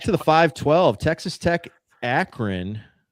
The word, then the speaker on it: Akron: Back to the 5-12, Texas Tech, Akron. Don't be confused with the small font and pronounce it Akon.